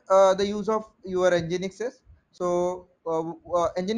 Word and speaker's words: Nginx: used so what is engine x so again engine x is uh again it can be pronounced as engine x it is an open